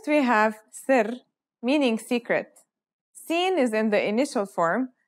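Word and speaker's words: سين: let's start with scene scene sounds just like the English s it's very easy to pronounce let's see how it's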